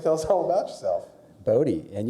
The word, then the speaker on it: Bodi: us all about yourself Bodie and you got my name pronounced correctly it's just Bodhi b-o-d-i so that's great